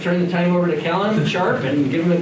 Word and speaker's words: Cahlan: Sorry, it's actually pronounced Cahlan, sorry. That's okay. I just had somebody literally, like yesterday, call me Cahlan. It's happened my entire life. It will continue happening for my entire life, so I do not take any offense whatsoever to mispronunciations of my name, especially because it's spelled not at all how you would expect.